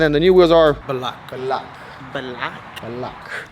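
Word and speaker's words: Belak: So today we got Intro, we got Bogarts, and then the new wheels are Black. Black. Black. Black. How you spell that?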